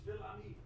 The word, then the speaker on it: Fils-Aimé: It's gonna hurt me because I was gonna ask him how to pronounce the last name. It's Phil-Ami.